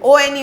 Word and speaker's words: one: Sound किसका है, 1, जंगल वाला 1 नहीं, 1 का साउंड है, ONE 1। जब 1 का साउंड आया तो क्या, कौन सा साउंड आया, कॉन्सोनेंट का। लिखा हुआ है स्टार्ट्स विद W साउंड, 1।